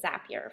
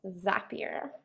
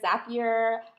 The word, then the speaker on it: Zapier: I was pronouncing it Zapier for a really long time, but I think they said it rhymes with happier, so I think it's Zapier.